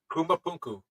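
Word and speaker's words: Puma Punku: Rarely quote this show, but there is one spot they go to a lot that always amazes me, and I believe it's pronounced Pumapunku.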